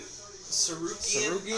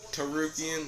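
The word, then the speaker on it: Tsarukyan: Sarukian? I think is how they say his name. Yeah, Arman Sarukian. Armin Hammer Sarukian. You got Benny Hill, Dariush. I'm pretty sure it's Tarukian. The S is silent.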